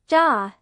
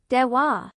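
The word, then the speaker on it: では: In this conversation, the de-wa part in the negative sentences are all pronounced ja, but you can also say de-wa.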